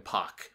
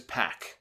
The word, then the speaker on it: Pac: his name I think Jim Ross called him pock his name is pack that's how they pronounce it that's how I pronounce